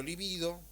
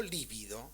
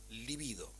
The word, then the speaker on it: libido: pulsiones de metasexual o libido, no líbido, ¿sí? Líbido es una palabra esdrújula, se escribe con B corta y significa otra cosa, libido.